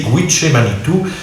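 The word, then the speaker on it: Gitche Manitou: Vous voyez que la note, il faut prononcer Gwiché Manitou, est de Baudelaire lui-même.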